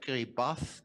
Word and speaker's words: Kiribati: is Kiribati if you are not aware of Kerry bath actually that's a real pronounce pronunciation yeah then you'll see here the